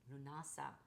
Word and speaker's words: Lughnasadh: You can pronounce it in a different way. Luna, Lunasa. Different people pronounce it differently, but it this is